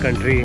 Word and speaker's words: Kata: डे जिसको बोलते हैं कटा बीच। I don't know time pronunciation है या नहीं बट इट स्पेल्स के टी। सो आई I would call it एस कटा।